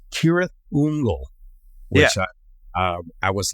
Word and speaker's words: Cirith Ungol: the Rings books many times um we've always pronounced sah fungle the van apparently um according to J.R token the correct pronunciation I don't know if you've ever heard this before it's kirth unle which uh was like I never knew that